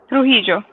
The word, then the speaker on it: Trujillo: Ask her about Rafael Trujillo. I say it right? Trujillo.